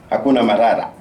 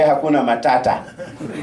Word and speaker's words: hakuna matata: Most of Americans knows one Swahili, hakuna marara. That is not how it's pronounced. You do swallow words. You have accent. We don't have accent. We say hakuna matata.